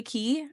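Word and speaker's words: Cay: I know we go to Castaway K or Castaway Key. I never know if it which one it is. I think it's Key, but it's spelled like K, Okay.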